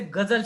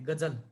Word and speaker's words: ग़ज़ल: click कर देता आपको तो हम मराठी की तरह उसको ग़ज़ल बोलते गजल लेकिन एक्चुअल एक ग़ज़ल शब्द गजल नहीं है गांव के नीचे बिंदी है और जब के नीचे जिंदगी तो उसका उच्चारण यहां से होता है वह जल गजल इस